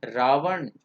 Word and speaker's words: रावण: its Krishna it's राम ना कि Rama it's रावण तो should be like this रावण right इ इट्स स्पेलिंग इ दिस आई अग्री की स्पेलिंग यही